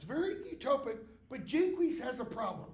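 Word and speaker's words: Jaques: it's very utopic but jqu has a problem and that's how his name is pronounce not Jac jqu has a problem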